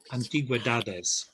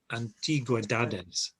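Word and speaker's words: antigüedades: When it has the dots over the U, you have to sound the U as well. So antiguedades. Antiguedades. And the stress should be on the penultimate syllable, dad. So antiguedades.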